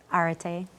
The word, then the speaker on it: arete: It's called the Righteous Sisterhood, but they are always striving to reach something called, is it arete? Is that how you pronounce it? Arete.